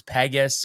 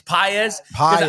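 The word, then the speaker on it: Pages: I always thought it was Pegasus or you know the Andy. Do you know how to say it? I It's PZ.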